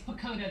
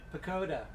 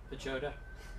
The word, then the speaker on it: Pochoda: It's Pochoda. The H is silent. Pochoda.